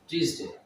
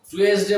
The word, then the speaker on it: Tuesday: Fever, suffering from fever last টিউসডে, টি ইউ ই এস ডি এ Y, last টিউসডে। টুয়েসডে বলে অনেকে, কিন্তু এর উচ্চারণ হবে টিউসডে, এটার উচ্চারণ হবে টিউসডে, মঙ্গলবার।